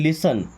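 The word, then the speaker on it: listen: लिसन, देखिए यहाँ पर टी साइलेंट है, क्या पढ़ते हैं, लिसन।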